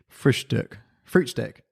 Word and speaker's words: Frühstück: What's the first bit? Die. No, the first word. Frühstück. Fruitstick. Fruitstick grouper.